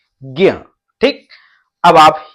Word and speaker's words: ज्ञ: तो अभी इसमें कोई मात्रा नहीं लगी, इसमें अस्वर मिला हुआ है, तो इसके उच्चारण में अंत में अस्वर निकलना चाहिए, ज्ञ।